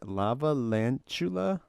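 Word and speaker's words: Lavalantula: How do you say that? Lava lantula? Yeah, like a tarantula.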